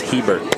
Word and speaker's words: Hebert: Actual pronunciation is Hebert.